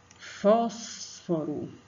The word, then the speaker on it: fósforo: Onde que vai ser o acento agudo? Na vogal O, né?